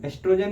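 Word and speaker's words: oestrogen: hormones प्रोगैस्टरॉन और एस्ट्रोजन एस्ट्रोजन में ओ सही लिखने हैं लेकिन ओ साइलेंट होता है अब हम लोग पढ़ने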